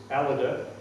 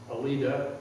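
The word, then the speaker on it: Alida: not pre-marrying another uh daughter is aleda i always thought it was alita a-l-i-d-a but went aldrich has corrected me that's pronounced and she marries john armstrong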